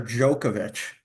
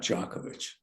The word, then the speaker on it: Djokovic: it's a it's a jokovic well you have some Serbian friends you could check that yeah I know I know so do you say jovic or jokovic it's really jokovic it's not jovic it's jokovic I think in